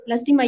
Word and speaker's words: lástima: Entonces, no, y aparte dice que no tenemos un buen lenguaje, pero no acentúa lástima. Lástima lleva acento en la A.